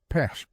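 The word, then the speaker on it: печь: His family, like most Russian peasant families, lived through brutal winters in a small log house heated by a traditional patch, pronounced pesh.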